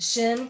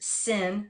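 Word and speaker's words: ש: is the shin and shin can also be pronounced sin because through one word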